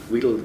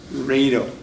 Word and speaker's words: Riedel: So it Riedel rhymes on needle.